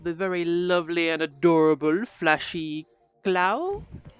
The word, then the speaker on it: FlashyKlau: very lovely and adorable FlashyKlau. Is that how you say it? I'm really bad at pronouncing things. FlashyKlau. You actually got it right.